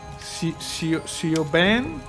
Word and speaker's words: Siobhan: Siobhan? Siobhan. It's pronounced Siobhan.